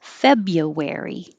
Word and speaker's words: February: a lot of r's we don't say the first r which is why it's hard to remember to spell it that way february and that's the same